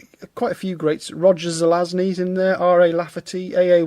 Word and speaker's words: Zelazny: Aldiss, got quite a lot of his stuff, some more Roger Lasagna. Roger Zelazny. I think I said it right before, and then I just went wrong that second time.